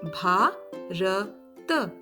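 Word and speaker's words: भारत: We write it as B-H-A-R-A-T, right? But how do we pronounce it? Bharat. So phonetically speaking, we would write it as B-H-A-A-R-A-T because this will help us to easily add our swar to the consonants.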